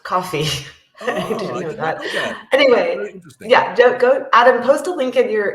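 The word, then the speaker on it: Ko-fi: I think that's fantastic Kofi is pronounced coffee anyway yeah go Adam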